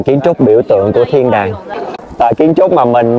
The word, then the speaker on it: Thiên Đàn: mọi người chữ đàn mình đọc theo kiểu miền Nam thì giống như có g Nhưng mà thực chất nó là An nha mọi người đàn Nha Thiên đàn đó tên đúng của nó phát âm chính xác là như vậy ha và bây giờ